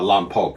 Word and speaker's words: Lompoc: Uh Lompoc is a proper pronunciation actually.